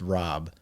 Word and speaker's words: Raab: name is Rob and my last name is supposed to be pronounced Rob, but my whole life I grew up here in Philly, so then everyone just said Raab, and I just was over it.